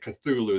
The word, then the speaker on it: Cthulhu: But in most media, when Cthulhu is referenced, they're using the th, and that's where you'll see like most.